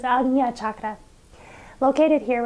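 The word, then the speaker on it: आज्ञा: The Sanskrit name for this chakra is Ajña chakra. This is kind of a hard one because in English letters it's spelled A-J-N-A. But English letters sometimes do a fairly poor job of translating Sanskrit letters. And the way that we say this chakra is not Ajna, instead it's Ajña.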